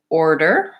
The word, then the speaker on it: order: it's challenging to say so again there's our R and we want to make sure we have the type back American R and then often even